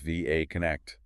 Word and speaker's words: VA Connect: And that's pronounced VA Connect, saying the letters.